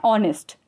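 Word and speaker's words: honest: होता है क्योंकि इसमें जो ह जो होता है वो सॉलिड साइलेंट होता है हम कभी ऑनेस्ट नहीं पढ़ते हैं हम हमेशा इसे पढ़ते हैं ऑनेस्ट एयर और सो हर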